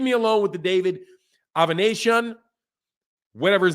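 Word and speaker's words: Avanesyan: Guillermo Rigondeaux's name is pronounced Rigondeaux. David Avanesian, that's how that website said it's pronounced.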